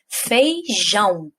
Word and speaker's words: feijão: Então, por exemplo, aí, feijão. Jão é a sílaba mais forte, então ela é a sílaba tônica e ela está no final, ela é a última.